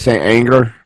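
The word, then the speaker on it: St. Anger: Saint Anger.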